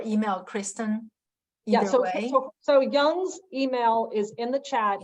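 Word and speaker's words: Wang: email me or email Kristen yes okay so Young's email is in the chat it's why it's pronounced young so it's yeah yeah but it's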